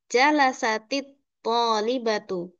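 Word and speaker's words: جلست الطالبة: Jadi khusus untuk ta yang bersukun ini kalau kita mau membaca disambungkan dengan isim selanjutnya kita bisa ee membacanya dengan berharakat kasrah walaupun seharusnya sukun ya dari jalasat at tholbatu menjadi jalasatit thbatu.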